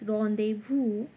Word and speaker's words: rendezvous: It is a noun, and the meaning of the word rendezvous, it should be pronounced like this. Rendezvous, the meaning of the word, a meeting at an agreed time or place.